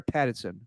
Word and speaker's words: Pattinson: And I thought that Robert Pattinson knocked it out of the park. Is it Patterson or Pattinson? How do you say his name? Pattinson. I'm saying the T, Stephen.